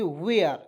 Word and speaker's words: where: तो देखिए WH यहाँ पे वा के रूप में कर दिए और ईयर हो जाएगा वेयर।